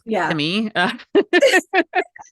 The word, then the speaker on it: Kissimmee: Kissimmee is always one that's mispronounced, and it's Kissimmee. I'm like, hey, if you want to kiss me, that's fine, but that's not what we're talking about right now.